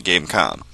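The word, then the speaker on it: Game.com: tiger game calm yes there's a dot there be pronouncing game calm this thing came out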